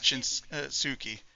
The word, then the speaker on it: Shinsuke: And the first name is just Shinsuke, not Shinsuke. The U is silent somehow.